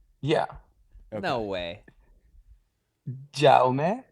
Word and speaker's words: Jaume: Jaume. I mean, in Spanish, then my name would be Jaime, but Jaime. in my first language is Catalan, so it's pronounced Jaume. It's like a more quiet J.